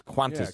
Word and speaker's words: Qantas: And Qantas, I believe that's Qantas is how it's pronounced.